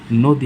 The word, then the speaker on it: নদী: ১ number দেখি, যদি প্রদত্ত শব্দে দীর্ঘ ইকার থাকে তাহলে উচ্চারণ হবে হ্রস্ব ইকার। যেমন নদী একটা শব্দ, আমরা দেখতে পাচ্ছি কি এখানে দীর্ঘ ইকার আছে, উচ্চারণে কী হবে হ্রস্ব ইকার।